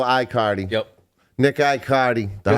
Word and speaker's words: Aicardi: to pronounce it aardi I cardi so like there's nothing there in the front so wicked simple iard yep Nick I cardi